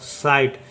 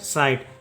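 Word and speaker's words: sight: तो यहां प लिखेंगे स आई का उच्चारण होगा तो ये हो जाएगा सा इ और टी का उच्चारण होगा तो हो जाएगा ट साइट जी एच क्या हो जाएगा यहां पे साइलेंट हो जाएगा इसे पढ़ेंगे साइट इसी तरह से देखिए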